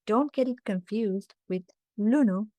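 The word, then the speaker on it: ලුණු: Lunu and lunu. Lunu with a long lu is onions. So, don't get it confused with lunu with a short lu, which means salt.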